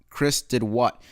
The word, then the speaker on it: chrisdidwht: um this one was posted by chris it's pronounced chris did what uh so it's spelled chris did w-h-t left